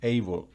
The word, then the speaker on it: able: El diccionario que yo estoy utilizando para resaltar que el sonido de la vocal es como su original en inglés, recuerden, lleva esa rayita encima, able.